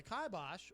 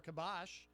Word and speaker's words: kibosh: Yeah, no, it really is, because he depends heavily on YouTube, and YouTube has put the kibosh or kibosh, whichever Kibosh. you can put the emphasis on whatever syllable you Oh, like.